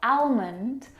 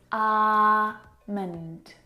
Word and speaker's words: almond: this afternoon almond now in this word the L is silent it's not almond or almond it's our mint and almond almond I'm